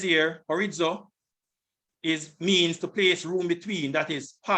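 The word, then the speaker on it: χωρίζω: And it says, let not the wife depart, Strong's G 5563, horizo. This is the pronunciation. Strong's G 5563, horizo.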